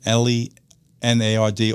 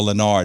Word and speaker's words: Lenard: I believe his name is pronounced Lenard, L-E-N-A-R-D or Lenard. It's one of the two, but it's not L-E-O-N-A-R-D.